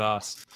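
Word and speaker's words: osu!: First of all, you pronounce it Osu. Oh my god! Oh my god! Kill yourself. So that's how the game pronounces it. Click the circle. It is Os. It's Os.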